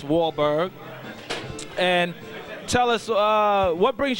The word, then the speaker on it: Wahlberg: name, but you know, the last name, I know how to properly pronounce it. It's Wahlberg.